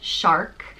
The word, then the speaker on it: Searc: So it's pronounced just like the animal or fish, shark.